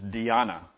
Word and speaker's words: dhyana: want to refer to the Sanskrit term which is Diana and that's spelled DH y a n a this a Sanskrit word